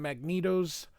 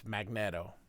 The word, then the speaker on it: Magneto: in approximately 82 minutes now I say Magneto because that's the way everybody pronounces it but it's Magneto let's let's be real it's magnet so that's the word magnet and if it was Magneto he would have two e it's only got one e it's magnetto just just thought I'd point that out that everybody has been mispronouncing his name forever I don't care if